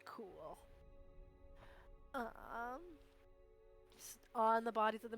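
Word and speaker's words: Qul: Spelled Q-U-L, but it's pronounced Cool.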